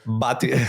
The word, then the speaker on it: Bhatia: Bhatia.